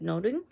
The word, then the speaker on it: Nothing: Nothing at the time would have also been pronounced like noting.